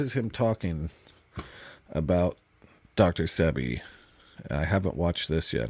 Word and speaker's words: Sebi: Sebi.